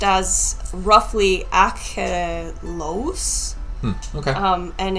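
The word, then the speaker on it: Achelous: which is pronounced as roughly Achelos, Okay.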